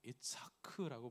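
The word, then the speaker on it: יצחק: 히브리어로는 아브라함은 자기 아들을 이렇게 불렀겠죠. 이츠하크라고 불렀을 겁니다.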